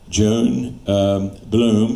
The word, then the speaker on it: Johan Blohm: And it's done to a song by Joan Bloom, and I'll spell that for you.